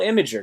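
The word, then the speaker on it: Imgur: l and i man late night imager okay inger imager it's called imager goddamn i'm saying it right okay all right what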